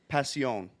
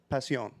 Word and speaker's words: Pasión: That's definitely not how it's said, dude. That- You gotta look this shit up before you Look it up. La Aroma de Cuba. Okay? Pasión.